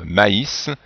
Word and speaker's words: maïs: On n'oublie pas les trémas sur le U qui permettent de séparer la voyelle dans la prononciation, comme dans Noël ou maïs. S'il n'y avait pas le I tréma, on prononcerait mais.